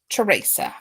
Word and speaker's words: Theresa: Now, is it Teresa or Theresa? Just so I say it right, because there's different ones say it different ways when it's spelled with a TH. Teresa.